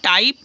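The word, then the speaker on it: type: Next है TYP टाइप, टाइप में भी साइलेंट है, जैसे केक में भी साइलेंट है, ठीक है।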